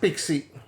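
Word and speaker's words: PXE: preboot execution uh preboot execution environment so it's pronounced pixie Pi iix i e okay so PX spec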